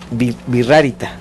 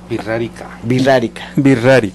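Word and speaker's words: Wixárika: Y escucharon ustedes hace rato que era birrárita. Y le dije, se escribe con V.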